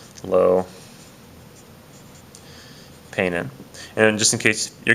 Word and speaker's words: peinen: It's peinen, say, or I'm sorry, peinen, peinen, peinen. The stress is over that E right here. Okay, that's where the stress on the word is.